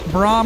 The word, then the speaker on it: Braum: Braum rhymes with grom.